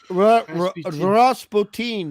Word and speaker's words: Rasputin: Rasputin is the pronunciation.